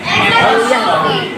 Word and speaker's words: apostrophe: आज हम लोग पढ़ेंगे एपोस्ट्रॉफी। ठीक है, एपोस्ट्रॉफी का अर्थ क्या होता है। देखो पहला चीज इस चीज के बारे में हम लोग जानेंगे कि एपोस्ट्रॉफी है क्या। सही प्रोनाउंसिएशन क्या होता है, एपोस्ट्रॉफी।